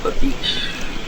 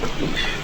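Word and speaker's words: babiche: Like there's a thin leather strip and it's called the beach. You ever heard of that, Dan? The beach? B-A-B-I-C-H-E. I'm not sure if that's the native term or the French term, the beach.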